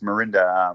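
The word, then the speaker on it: Mirinda: first name right - they you know it's Miranda but they they just see morinda and pronounce it Miranda so fine your daughter's name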